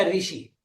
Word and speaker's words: ऋषि: मतलब मैं बोल रहा हूं ऋषि, मेरे उच्चारण में कहीं ना कहीं रू आ रहा है, ऋषि। और हिंदी बोलने वाले में री आ रहा है, लेकिन न तो री का उच्चारण शुद्ध है न रू का उच्चारण